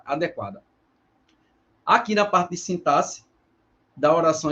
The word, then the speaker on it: sintaxe: que seria então passe Olha a pronúncia não é sintaxe sintaxe não é sinta-se Ou sintaxe Olha é uma paroxítona tá é citar tá E esse x não tem som não tem um som aplicado tá sintaxe ele não tem esse som tá como em táxi na ideia de fono tá a gente não tem essa pronúncia aí a gente tem sintaxe como se o x tivesse valor de ss tá sintaxe porque assim